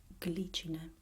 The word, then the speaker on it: glicine: this liquid sound, but there are a few exceptions, like for example the word glicine.